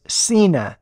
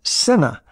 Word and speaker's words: Sena: years i referred to the sena headsets as cena headsets and i was corrected through uh one of my comments that it's pronounced senna you know in being from texas you know